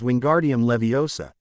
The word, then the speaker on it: Wingardium Leviosa: eye out that way the pronunciation is wingardium leviosa not Leo's AAA Herm was saying if